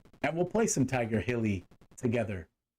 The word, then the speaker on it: Heli: people are like dude it's healy like it's always been healey you know what why